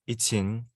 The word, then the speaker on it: YiQin: my birth name yeah my manager name is itin and oh okay so that's how you say it okay yeah and so